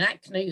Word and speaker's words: Hackney: youngster growing up in acne that spelt sharon hackney the h is silent so you knew as